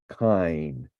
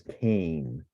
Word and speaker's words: kein: Now, note how the word kein is transcribed here, with the diphthong pronounced like the English word I, kein, not as Cain, which would be somewhat more a somewhat more common pronunciation.